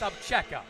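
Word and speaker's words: Obzera: I mean, it's spelled O-B-Z-E-R-A, pronounced Abcheka.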